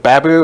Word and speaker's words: Babu: Is it Babu? Am I saying it right? That's Babu. You're good enough.